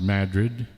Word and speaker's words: Madrid: be in madrid mexico it's pronounced madrid and all the mad madroids live there that's next friday new